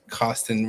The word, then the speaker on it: Costen: misp pronounce my name it is the cost of money the number 10 put those two together is how you get